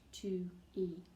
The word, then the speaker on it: Tui: That's how I talk to my best friend, Tui, pronounced 2E.